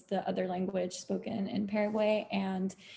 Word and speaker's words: Paraguayan: Who said Paraguayan dish? Paraguayan, yes. I know a lot of people say like Paraguay or Paraguay, but so I have